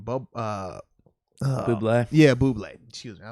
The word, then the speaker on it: Bublé: Bublé.